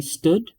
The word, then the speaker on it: std: be thought of as standard and call that standard because it refers to the standard library or some people also like to say a stood you know it's up